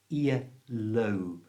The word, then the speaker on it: earlobe: Now again, it's got a strong O sound in it. Earlobe.